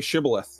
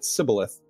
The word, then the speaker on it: shibboleth: if they they would ask them like say shibboleth and if they because people the iphone might said it they pronounced it sybileth and uh yeah the right code word the